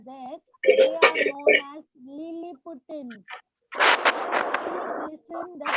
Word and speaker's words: Lilliputians: They are known as Lilliputans. Please listen the pronunciation.